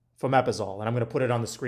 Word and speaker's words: fomepizole: antidote is, I'm going to butcher how to pronounce this thing, but it's fomepizole. Fomepizole. And I'm going to put it on the screen because it's, you know, a weird word, but fomepizole, F-O-M-E-P-I-Z-O-L, fomepizole.